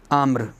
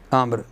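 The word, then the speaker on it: عمرو: ہے توجہ کرو نا، تزاد الواو خطاً لا لفظاً، واو کو زیادہ کیا جاتا ہے خطاً لا لفظاً، لفظاً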